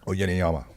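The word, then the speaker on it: Uyenoyama: Yeah, I just I guess because um I know Gaston's jiu-jitsu coach, Darren How do you say his name? Euyama? Oyeneyama. Oyeneyama, yeah. Oyeneyama. Yeah, I'm going to believe you.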